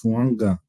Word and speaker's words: Fuaga: round draft pick was tiis fanga a fuaga that's how you pronounce it I think it's fanga there's no win I think you gotta put it in there but we got